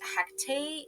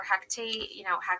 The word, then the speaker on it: Hecate: And I used to always say hectate, which I find is like the probably um, not pronounced correctly, triple moon goddess way of saying Heka. Um, or Hecate, Hecate. I don't care how you say it.